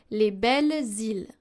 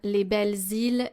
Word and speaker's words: les belles îles: So here, the Z sound in Les Belles Îles and De Grandes Idées is very important. Why? Because if we listen to it, if we don't pronounce the liaison, it will sound like it's a singular noun and adjective.